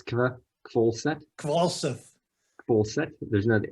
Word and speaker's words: Kvalseth: there that's missing but the h is actually the one that you don't pronounce funny okay uh from